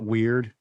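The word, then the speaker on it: WEaRd: I call it Weird, and it's spelled, it's like lowercase W, capital EAR. Yeah. Branding. And then lowercase d, because it's about, I can't get away from this ears thing.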